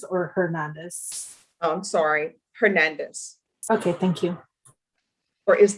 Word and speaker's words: Hernandez: hernandez oh i'm sorry hernandez okay thank you or is the h solid i'll have to remember all right mr uh because brenda and prince you don't pronounce the h mr rodriguez i'm going